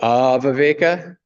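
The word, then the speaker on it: āviveka: I'm fairly certain that that's because it's a long A, leading towards, where a short A means usually negation more. So, aviveka.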